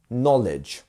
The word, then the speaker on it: knowledge: like null, and then the second part is our less stressed, which is lidge, knowledge.